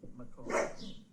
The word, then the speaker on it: McCoy: And by the way, their name is pronounced as it is spelled, McCoy.